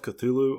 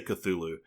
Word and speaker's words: Cthulhu: I have tried Call of Cthulhu on Xbox Game Pass, which I will have to say, I always say Cthulhu.